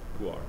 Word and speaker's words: Pu'er: I say it the lazy way. Pu'er. Rich. It's like rich and poor. It's pretty much the same pronunciation.